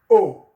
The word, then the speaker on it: au: le, the combination becomes O, A-U, A-U, and it's pronounced O, O, O, O, A-U, A-U, is pronounced O, O, O in French.